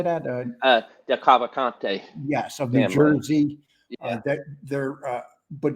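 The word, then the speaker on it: DeCavalcante: And people will say, "Oh, the Delvacantes," or how do you say that? Del Cavalcante.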